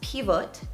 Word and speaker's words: Pivot: European Champion as well so in Czech it's pronounced pivote but the cck word pivo means beer is